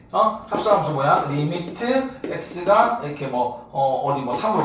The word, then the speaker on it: lim: LIM 리미트라고 읽으면 돼.